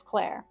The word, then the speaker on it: Claire: hey Alex it's Claire it's CLA okay it doesn't have to be overly pronounced TS it's CLA but just whatever your name is just sort of smooth it together with it it's CLA it's CLA it's CLA okay just